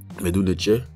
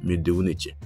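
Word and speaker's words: Medu Neter: la vocalisation ou bien la prononciation de cette phrase, c'est Medou Neche, Medou Neche, Medou Neche. Donc en B, également, ça se prononce Medou Neche, et ça veut dire la même chose.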